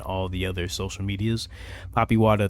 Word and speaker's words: Papiwata: Poppy Wada 33, which is spelled PAPIWATA 33.